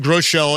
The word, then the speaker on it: Groeschel: For example, my name, Groeschel, it's actually a German name. It should be pronounced Groeschel.